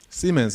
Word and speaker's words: Siemens: Siemens is the name of the company. Not what you're thinking. So, all right. So the Germans say Siemens. Siemens. Americans say Siemens. Not the S-E one. Okay. It's S-I-E.